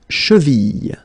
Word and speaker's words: cheville: La cheville. La cheville. Remember, double L like that after I, y.